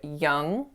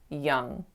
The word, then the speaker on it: young: was on the word Yong Yong so that vowel should be an sound but I made it more open to make it sound like Yong when in fact it should be young the next mistake that